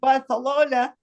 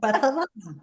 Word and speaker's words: Barcelona: Jerry would say Barcelona, and I said, Jerry, what's wrong with you? Why are you talking about That's how they say it, Barcelona. Actually, you shouldn't say Barcelona because that's Castilian and they don't speak Castilian in Barcelona.